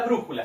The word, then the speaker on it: brújula: Bien, ejemplos, tenemos la palabra brújula, separamos primero en sílabas. Brújula. 3 sílabas. ¿Dónde cargo la voz? En la sílaba bru.